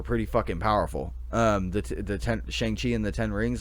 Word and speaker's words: Shang-Chi: Shang-Chi, I think, is how you say it, because Shang Tsung is from Mortal Kombat.